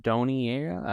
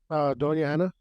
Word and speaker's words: Doña Ana: Is it Doniera, or how do you say it? Doña Ana.